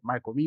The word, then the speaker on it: Marcomin: Pronunciei seu sobrenome corretamente, é Marcomin mesmo?